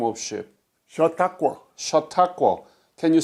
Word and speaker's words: Chautauqua: Chautauqua. Chautauqua. Can you spell it?